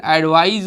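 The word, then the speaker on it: advise: तो that represent noun, और इसका प्रोनाउंसिएशन एडवाइज होता है और इसका एडवाइस होता है, ठीक है।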